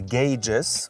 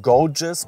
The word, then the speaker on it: gauges: the gauges watch out the pronunciation is gauges not gorgeous or gouge it gauges the a is like in play and the U is silent okay let's check out